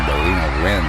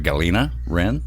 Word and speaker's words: Galina: We're going to call Galina Rin of Death Inglorious.